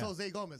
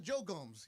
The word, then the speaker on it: Jose Gomez: you say your name it's Jose Gomez I just want to make sure it's not Joe Gomez you know like what